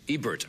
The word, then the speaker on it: Ebert: pronounce Rogers last name wrong it's Ebert right Ebert Ebert I said I said either and it's Ebert Ebert yes it is